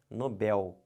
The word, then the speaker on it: Nobel: isso aqui está errado o certo não é Nobel o certo é Nobel aqui ó como é